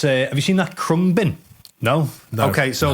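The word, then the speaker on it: Khruangbin: And it's a Have you seen that crumb bin?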